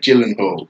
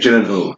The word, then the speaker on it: Gyllenhaal: Is it a hard G or is it a J? Jake Gyllenhaal. Jake Gyllenhaal. I like Jake I Gyllenhaal. reckon He's one he'd that be a plays It's either Jake Gyllenhaal or Mephisto now, Jake isn't he?